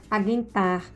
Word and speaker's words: aguentar: Então, não quer dizer que eu vou ler aguentar. Porque tirou o trema, não vou mais pronunciar o U. Não. Continua a mesma pronúncia.